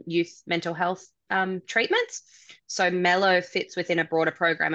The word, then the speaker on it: Mello: You already helped me realize it's pronounced Mello, not Milo, as I said.